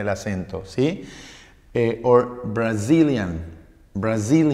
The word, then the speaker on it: Brazil: acento si por brasilia brazil ya tampoco pierde el acento la segunda sílaba así en el diccionario